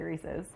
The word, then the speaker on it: Reese's: making homemade reesei cups how do you say reesei I say reesei but most people say Reese's Reese's Reese's yeah AG great Reese's Peanut